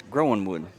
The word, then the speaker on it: Groenwood: from the coach, and the coach said it's Groenwood. Okay, all right. The internet was completely wrong. Yeah, I had asked AI how to pronounce it, and it tried to do the German thing where you made the W a V, but I guess AI and us were wrong.